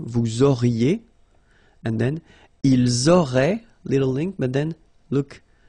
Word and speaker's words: auraient: Vous auriez, little link between the two, vous auriez, and then, ils auraient, little link, but then look, A-I-E-N-T like that, and you only pronounce E, like we had here.